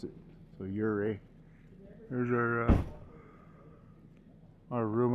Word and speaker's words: Ouray: see it in the daytime here in uray uray I've been told is how to pronounce it so uray here's our uh our room up there we